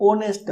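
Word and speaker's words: honest: हम ऑनेस्ट, ओ का साउंड निकलता है, ऑनेस्ट, ये साइलेंट रहता है, तो इसमें भी हम एन का यूज करते हैं, एन आर्टिकल का।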